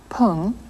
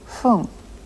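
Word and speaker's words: 分: g juco for my you heard not poon but whom after certain numbers the correct pronunciation of the word for minute is Foom go home you go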